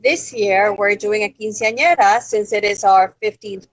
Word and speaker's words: quinceañera: All right, we only have a few more minutes in the show, and I want you to talk about your quinceañera. How do you pronounce that?